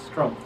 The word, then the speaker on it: Struempf: I am here with, I'm gonna botch your last name, it's Struempf? Struempf. Okay, so I did pronounce it right.